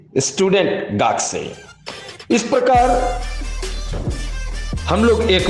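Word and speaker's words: がくせい: Student, student में भी मित्रों ये ध्यान देंगे, इसे GAKUSEI लिखा जाता है, गाकू से ही, बट इसे गाक से पढ़ते हैं, गाक से।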